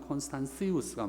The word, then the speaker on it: 콘스탄티우스: 가톨릭 이렇게 하듯이 이제 표준어로 콘스탄티우스 이렇게 해놨어요. 그러나 라틴식 발음을 하면 콘스탄시우스가 맞습니다.